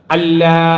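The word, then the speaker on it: أَلَّا: എന്നുള്ളത് അതിന് കാരണമുണ്ട് അപ്പൊ ഇവിടെ നമ്മൾ ഉച്ചരിക്കുമ്പോൾ എങ്ങനെ പറയണം അശ്ഹദു അല്ലാ ഇലാഹ ഇല്ലല്ലാഹ് അല്ലാ എന്ന് പറഞ്ഞു പറഞ്ഞാൽ എന്താ കുഴപ്പം ലായുടെ ശബ്ദ് പോയി അതുപോലെ വഅന്ന മുഹമ്മദ് റസൂലുള്ള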